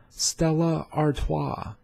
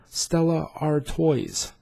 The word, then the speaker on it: Stella Artois: learn how to pronouns Stella Artois Stella Artois Stella Artois it is not pronounced Stella are toys you can purchase all